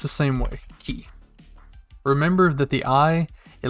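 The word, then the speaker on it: き: looks like a key so key and it's pronounced the same way key remember that the i it looks like an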